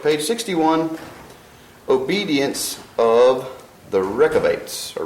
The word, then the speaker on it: Rechabites: 61 obedience of the wreck of eights or Ricca bites I looked up the pronunciation of that and is I believe it's closer to wreck of eights so what was last